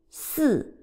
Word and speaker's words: 四: 四 Fourth tone.